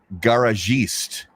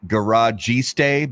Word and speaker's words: Garagiste: So this one is the Illusione Garagiste. So Wow. it looks like garagiste, but it's garagiste. Wow.